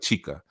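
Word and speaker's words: Xica: is s i I LV a but it's pronounced like chica so sometimes you see chica c h i c a but in Brazil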